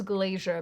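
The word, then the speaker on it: Glaser: At the 2025 Golden Globes, comedian Nikki Glazier, I've been told this is Glazier, but I want to say Glasser because that that is how it's spelled, but whatever. Anyway, she briefly pointed out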